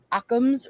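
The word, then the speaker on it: Occam's: versus aam's Razer sorry I realize that I pronounce it in a way people think I'm mispronouncing it versus I just say it fast so it comes out like amman's but it's aams akams Razer um yeah me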